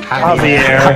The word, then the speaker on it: Javier: go basically javia is it Javier Javier the the JX is silent basically thanks for the